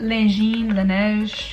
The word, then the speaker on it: Laneige: It's Laneige.